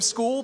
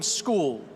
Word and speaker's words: Scull: William School, the reigning IBF 175B champion. And just for for clarity, William, it's school, right? We're go William School with the pronunciation. School.